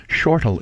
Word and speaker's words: Shortell: help answer those questions Shortell is the correct pronunciation of my name but nobody in this country says it that way it is an Irish name all right okay so